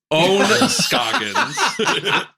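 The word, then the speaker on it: Ohn Scoggins: Is it Own? Own. Yes. God, it was 50-50 in my head, and I thought I chose the right one. Sorry. Own Scoggins.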